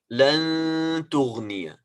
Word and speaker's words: لن تغني: So I'm not pronouncing noon. I'm not saying لن تغني. This is a mistake, a major mistake. We don't pronounce لن. This is noon. We don't pronounce noon. We are hiding noon.